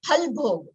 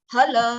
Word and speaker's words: phala: I'm just breaking it down so that Phala, because it is going like Phalbhog. No, it is not Phalbhog, it is Phala. Phala. And yes, again in Sanskrit, the fa that we say in Hindi doesn't come in Sanskrit. In Sanskrit, it is PH.